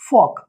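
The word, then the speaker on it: folk: एल को silent कर देना है। तो इट विल बिकम यॉक, ना कि यॉल्क। ऐसे ही फॉक।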